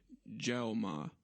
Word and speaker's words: Jaume: Jaume. That's how you pronounce it, the director's name.